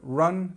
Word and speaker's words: run: Pronunciation wise, it's so it's this up sound. So run, to run.